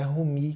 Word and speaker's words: Rumi: Aí isso é do Rumi, ou é Rumi que se pronuncia.